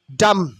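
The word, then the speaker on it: dumb: পঙ্গু অথবা খোড়া lame ডাম খম্প B will be silent ডাম্প ডাম্প B will be silent খম্ম মিন চিরুনি ডাম্প মিন বোবা ডাম B will be silent hair ডাম ডি ইউ এম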